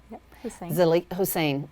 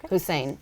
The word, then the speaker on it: Hussain: today we have hussain hussein i i pronounce it wrong every time and i'm so so sorry hussain hussain and she is going